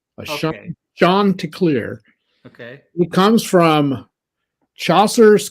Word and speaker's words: Chanticleer: It's pronounced Chanticleer. Okay. Chanticleer.